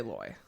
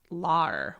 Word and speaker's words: lawyer: How do you pronounce the first syllable of L-A-W-Y-E-R? Lawyer. I say loy. It's a boy. Lar would be the South, though.